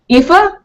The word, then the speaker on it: Aoife: pronunciation I'll be correct Aoife yeah narrator of mapmakers yes Aoife yeah it's a Gaelic name I guess her and